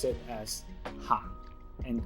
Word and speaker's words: 行: because the same character if they're used as different parts of speech it will be pronounced differently in this case we're using it as a verb to walk so we pronounce it as 行 and 街 is noun